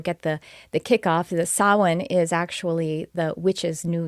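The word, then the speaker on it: Samhain: it's spelled people it the way it's pronounced looks different than the way it's spelled because it's it's I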